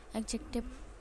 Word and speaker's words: adjective: तो इसमें डी जो है वो साइलेंट रहता है। ऐसे बहुत सारे शब्द हैं जिसमें डी साइलेंट रहता है। तो जैसे कि वेंसडे, हैंडसम, है ना, हम इसमें डी बोलते हैं लेकिन एक्चुअल में होता नहीं है। इसी तरह एडजेक्टिव भी है जिसको एडजेक्टिव ही कहते हैं, एडजेक्टिव नहीं कहते। डी साइलेंट है इसमें, एडजेक्टिव कहते हैं।